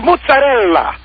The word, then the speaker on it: mozzarella: You're missing the last vowel. It's mozzarella. You got to say the Ella, not much.